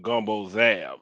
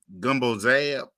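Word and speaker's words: gumbo z'herbes: call it the herbs but it's also called gumbo Zab that's how it's pronounced gumbo Zab yeah now how did you how did you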